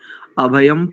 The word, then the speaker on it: अभयम्: दूसरी पंक्ति में दोनों अनुस्वारों को, प्रथम दोनों अनुस्वारों को मकार उच्चारण करेंगे, अभयम पश्चात अभयम, जी ठीक है।